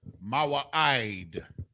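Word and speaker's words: מועד: Mawa'id.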